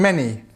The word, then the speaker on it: many: And many. Many. We've got this sound and this e. Short e sound at the end.